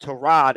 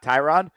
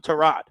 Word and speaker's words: Tyrod: time that he told people that it's actually pronounced Trod and not Tyrod. The problem is he had already played 10 years in the league with everyone saying his name was Tyrod. So, no one calls him Trod.